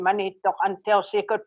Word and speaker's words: Manitok: I kept saying Monito. And she kept saying. I kept saying no. I didn't even say no. I just said monito. I wouldn't give up just saying my name Manito until she could pronounce